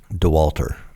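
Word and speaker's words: Dauwalter: DeWalter.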